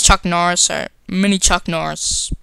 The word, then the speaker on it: Chuck Norris: badasses like they're like an army of many Chuck niss okay I said s yeah I'm really bad cuz it's Chuck Norris or mini Chuck Norris says I don't know